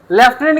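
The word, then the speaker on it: lieutenant: ये लेफ्टिनेंट लिखा हुआ है, लेफ्टिनेंट, कहीं भी एफ नहीं है।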